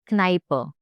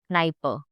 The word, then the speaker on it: Kneipe: So K is always pronounced. It is never silent. Like one example is there for K, which is Kneipe. Now this is the word in which K is not silent. Kneipe. I will say K also and N also.